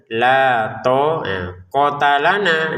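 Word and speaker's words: لَا طَاقَةَ لَنَا: Nah, to panjang, kof ta lam tidak panjang. Jadi la to kota lana gitu cara bacanya ya. Jangan dibaca panjang juga untuk taknya karena tidak ada alif.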